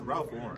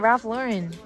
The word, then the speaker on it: Ralph Lauren: it what is it Ralph Lauren that's how you say it I'm telling you Ral Lauren it's not Ralph Lauren raen it's raen i